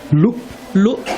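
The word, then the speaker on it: ལུག: Sheep is called luk in Tibetan. And also, it sounds like the word year in Tibetan.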